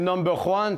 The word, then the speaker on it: NumberJuan: Yo, by the way, mon nom c'est Number One, puis tu devrais être facile pour toi de le prononcer, ça se prononce sans J.